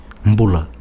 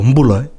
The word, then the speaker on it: Bula: So there's an N before the D and there's an M before the B. Yeah. Always. Also Mbula.